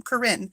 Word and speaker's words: Corinne: Is it Corrine? Corinne? Let me know. I hate being the one that butchers names because I'm married to a man who has a name that gets butchered all the time. Corinne, second one.